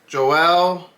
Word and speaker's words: Joelle: is by the artist Joelle McIntyre I want to say the pronunciation is probably Joel but it's spelled j